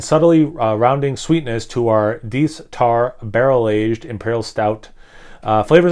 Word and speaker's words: Deth: If you're new to the channel, it is pronounced Deth, not Death, so no need to try to correct me.